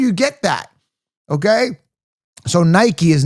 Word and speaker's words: Nike: Okay, so Nike is not pronounced Nikke.